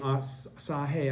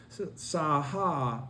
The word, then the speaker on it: Saha: the Saha world, and I keep saying Sahe out of a habit because I was mispronouncing it for a few years. Saha world, the innumerable Buddhas